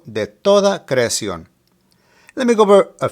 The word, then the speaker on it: creación: Creación has an accent over the O, so that is where the stress is located. Creación.